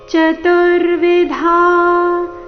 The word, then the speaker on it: ಚತುರ್ವಿಧಾ: ortho ಜಿಜ್ಞಾಸುರಥಾರ್ಥಿ ಜ್ಞಾನಿ ಭರತಶಭ ಚತುರ್ವಿಧ ಚತುರ್ವಿಧಾ ಧ ಮಹಾಪ್ರಾಣ ದೀರ್ಘ ಚತುರ್ವಿಧಾ ಭಜಂತೆ ಮಾಜಂತೆ